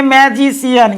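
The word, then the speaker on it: magician: और य तीसरा word M ए जी आई सी आई ए एन इसको का पढ़ेंगे जी सी के बाद क्या आइए सी का ध्वनि स के जैसा इसको पढ़ेंगे मैजिशियन क्या पढ़ेंगे मैजिशियन मैजिशियन मींस जादूगर कभी-कभी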